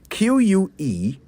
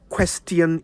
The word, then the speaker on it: question: Q-U-E-S-T-I-O-N. I'll give you a hint. It's not question. It's not question either. It's question.